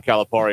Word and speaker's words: Calipari: not following uh John Calipari around caliper around town yeah we we're gonna have to get like an official pronunciation well according to a guy in Cave Springs it's Perry not par Steve Perry that's perfectly